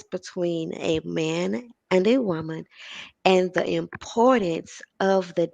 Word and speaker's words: womban: so i am reigning woman and that is spelled w-o-m-b-a-n and the b is meant to be silent but you can use the b if you want but it is symbolic i said it